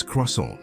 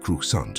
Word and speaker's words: croissant: How I pronounced certain words, it's croissant, not crusant, for God's sake.